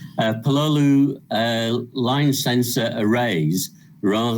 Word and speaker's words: Pololu: robots i've been using pololu uh i'm not quite sure how you say that word but i'll carry on pronouncing it like that uh pololu uh line sensor arrays